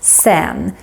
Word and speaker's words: sedan: Another bonus tip is that Swedish people very often pronounce this sedan as sen. Especially if we speak very fast, like we do here in Stockholm.